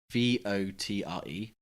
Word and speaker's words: votre: For me, it was just the pronunciation. Oh yeah. Even now I find it hard to say this word. V-O-T-R-E.